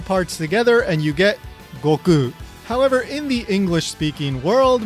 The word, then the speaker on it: Goku: Yes, you could argue that it's closer to the original Japanese, and that's fine. If you want to pronounce it that way, go right ahead. It's really not a big deal. But strictly speaking, if it's not Goku, then it's wrong. It's a misprononunciation.